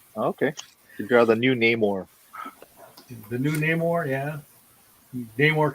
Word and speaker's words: Namor: You draw the new Namor. The new Namor, yeah. Namor coming for your girlfriend. Yeah. Namor. His name Namor, not Namor. No more.